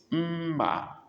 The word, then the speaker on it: mma: Mma, knife. Mma. First M, pronoun with mouth closed. Mma, knife. Before you open your mouth, the second M.